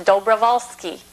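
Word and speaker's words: Dobrowolski: the middle is w-o-l you pronounce the W like a V which is Vol the last part is ski which is self-explanatory so it's dobrovalsky dobrovalski and that's who I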